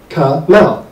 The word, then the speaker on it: Kamal: It was, and it's not, it's two syllables. Kamal. You know, it's not like it was a very hard word to say.